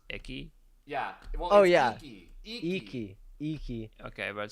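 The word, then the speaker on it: Ichi: pretty sure it's pronounced icky. Yeah. Well, Icky. Okay. But still, but yeah, reading it, it's literally icky.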